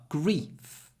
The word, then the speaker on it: grief: the vowel sound grief the vowel is short before an unvoiced F grief grief grief but grieve there's a lot of Y before the voice sound V grief grieve grief grieve so actually the sound at the end the F and the V you can't really hear them but the vowel changes because of the different sounds at the end of the word grief short vowel grieve